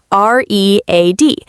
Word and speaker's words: read: For example, I love to read books every morning. But in the past tense, we pronounce it exactly like the color red.